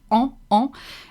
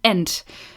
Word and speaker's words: en: Almost perfect, almost there, except she's pronouncing the N in the word en. La vie en rose, I plus N in French makes the sound en, and you shouldn't hear the end, meaning you don't pronouncing on, you pronounce it en.